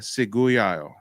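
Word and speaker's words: Ciguayo: Okay, so on Haiti, you've got the Taino, you got the Macrox, maybe, and then the Seguyayo. That's how you pronounce it.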